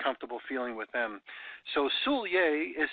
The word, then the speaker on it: Soulliere: you get a comfortable feeling with them so Soulier is spelled sou ll i ER e sou ll